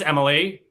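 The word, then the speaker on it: Emm'leigh: And my name is Emily. It is spelled E M M L E I G H because of course it is.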